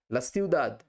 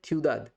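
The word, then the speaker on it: la ciudad: বা আবহাওয়া দুটোই অর্থ হতে পারে ঠিক আছে লাসিউদাদ লাসিউদাদ কিন্তু শহর এটা যদি স্পেনের দক্ষিণ ভাগে লিস মাধ্যমে যদি প্রনাউন্সের উচ্চারিত হতো তখন এটার উচ্চারণ হতো থিউদাদ সেটা আমরা এখানে বলবো না আমরা সিউদাদি শিখব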